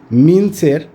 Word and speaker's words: MINGCH: এই যে আমার সামনে যেটা দেখছেন, এটা হচ্ছে মিন্সের 10 kVA একটা ভোল্টেজ স্ট্যাবিলাইজার। এটার ব্র্যান্ডটা হলো MINGCH। এখানে জিটা উচ্চারণ হবে না, মিন্স হবে এটার নামটা।